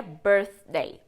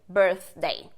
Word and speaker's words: birthday: tá então fique tranquilo mas a pronúncia certinha seria Birthday Birthday então a música Happy birthday to you happy birthday to you tá vendo a língua vem aqui entre os dentes first Day of birth